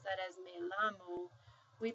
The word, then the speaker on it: llamo: So whenever you see two L's together, you pronounce it like a Y.